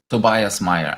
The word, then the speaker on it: Tobias Mayer: hello everyone and hello Tobias Meer actually is that how I should pronounce it Tobias or good enough yes yes that works yeah thank you people